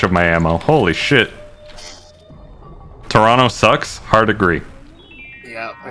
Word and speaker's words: Toronto: You know someone's from near Toronto, if they say Toronto with two syllables instead of three.